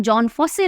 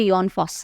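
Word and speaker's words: Jon Fosse: तो यहाँ इनके नाम में भी आप फंस गए, ये पढ़ने में जॉन फॉस्से लग रहा है पर ये योन फॉस्स है।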